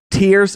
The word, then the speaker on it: Tears: finally got announced zelda tears of the kingdom all right not tares of the kingdom some of you might think tares but no they're spelled the same but it's very different this is zelda tears